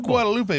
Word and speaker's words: Guadalupe: So it is Guadalupe, but if you're in Austin and you go down Guadalupe Street. Yeah, that's right. Don't pronounce it Guadalupe. They look at you weird.